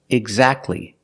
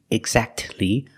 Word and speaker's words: exactly: You don't say exactly. Don't pronounce the T. Exactly. You go from the k sound to the l sound.